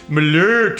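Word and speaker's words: Malört: that because actually every I keep on saying malort which is how Americans pronounce it but a lot of people have been like I can't believe that Marius didn't correct your pronunciation it's Malheur or whatever they're like that Big O with the tool like the umlaut II kind of two dots above it yeah I guess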